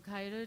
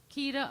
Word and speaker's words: Keita: i'll ask mr kaida to please come up to the microphone up front for your comments please am i saying your name wrong i'm very sorry keita okay hi everyone again